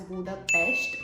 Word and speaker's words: Budapest: main thing is that it is pronounced as bua Pest and not pest so please keep that